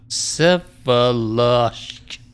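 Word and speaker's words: Vsevolozhsk: The first V you probably don't pronounce. Sevoloshk.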